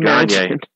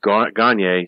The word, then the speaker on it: Gagne: Alliance, and together with Gagne started AWA. Gagne. No, Gagne. I know. I would have pronounced it Gagne if I did not know the name.